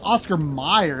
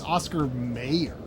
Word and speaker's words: Oscar Mayer: is not at all it's not Oscar Meyer it's Oscar Mayer like like look up how you like look up the logo and you will see how it is spelled and you'll be like that that is not at all how it was spelled in my head um I feel like